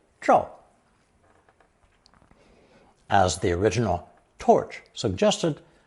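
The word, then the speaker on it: 照: fire radical underneath the phonetic Jo the new combination is pronounced fourth tone draw draw as the original torch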